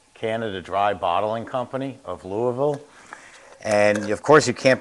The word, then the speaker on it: Louisville: I'm from New York I know how to pronounce Louisville it's not Louisville it's Louisville I went to the Kentucky